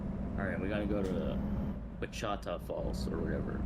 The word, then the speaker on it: Wichita: It's Wichita, yeah. There was a man at one of the events I was at who called it Wakita, and I was like, please don't ever say it like that ever again. No, it's Wichita.